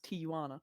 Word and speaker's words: Tijuana: Moana Tijuana okay so Jays are not pronounced like J's no they're like yeah yeah okay so it's Tijuana uh pathetic rude they're